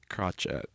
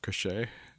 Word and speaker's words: crochet: But my favorite mispronunciation for mine is crotchet instead of crochet.